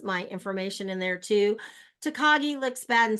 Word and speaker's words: Takagi: really big into anime and I think you pronounce it tekagi is that right and I said yes it is and now he comes